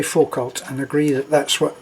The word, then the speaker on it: Foucault: see a ult and the way that I'm hearing it pronounced is full or full cult so let's say for cult and agree that that's